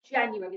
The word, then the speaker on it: January: we've got january so the tricky parts if we were reading january is that the letter u makes a u sound j on and then we've got aery okay so the a thought of making an air sound u every january january